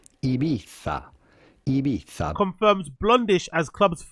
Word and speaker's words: Ibiza: The Z in Spanish is pronounced with your tongue between your teeth, so a little bit like the English the. Ibiza.